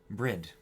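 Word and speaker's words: Bríd: ma'am these footnotes ah brid an Irish version of the name Bridget a famous Irish saint it's pronounced with a long e similar to the English word breed but the final D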